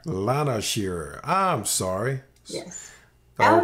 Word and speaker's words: Shearer: And I'll pronounce it for you because it's commonly mispronounced. It's Lana Shearer. Lana Shearer.